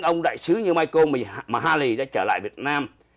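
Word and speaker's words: Michael McCallack: McCallack đọc là Mahaley. Trông thì cái tên nó ngộ lắm, mà tôi nói chuyện đó mà không, tên tôi đọc là Mahaley. Đọc viết là Mikalak nhưng mà đọc là Mahaley.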